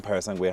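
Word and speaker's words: Purosangue: Parasangue, how you're supposed to pronounce it.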